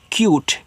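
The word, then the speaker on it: cute: मतलब सी यू टी ई लिखा है क्यूट। अब देखो अगर सी यू टी होता इसको कुट नहीं कट पढ़ते लेकिन यहां पे इ लग गया तो इसको यू कर देंगे यानी कि इस तरीके से क्यूट इस तरीके से।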